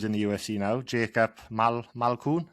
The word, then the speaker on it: Malkoun: the UFC now, Jacob Malkoun. Is it Malkoun? That's it. Yeah, I think that's how you pronounce it.